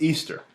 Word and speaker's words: Ishtar: Semiramis became known as Ishtar, which is pronounced Easter, and her moon egg became known as Ishtar's egg.